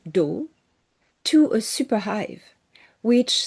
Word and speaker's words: Dow: The Dow is the name of their space species, Dow, D O W, pronunciation. So, the Nebu were a